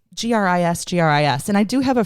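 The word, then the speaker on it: gris-gris: So Gris, and it's Gris.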